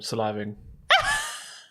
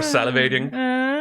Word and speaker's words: salivating: Thanks, now I have to figure out why I'm saliving. I hope it's the noodles. Or salivating.